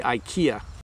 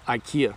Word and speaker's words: IKEA: is from Lee Lee says how do you pronounce IKEA thank you Bob so we say IKEA I don't know how to sound it out